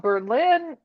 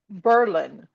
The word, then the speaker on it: Berlin: I found it turns out that it's not Berlin, New Hampshire. It is Berlin. They they changed the pronunciation during World War I as a patriotic